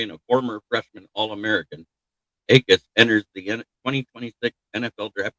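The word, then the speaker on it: Jacas: The last name is spelled Jacus, but it's pronounced Akis. Gave Akis edge out of Illinois.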